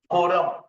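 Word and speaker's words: quorum: उसको क्या बोल कोरम क्यू यू ओ आर यू एम कोरम ऐसे प्रोनाउंस करते है कोरम ठीक है क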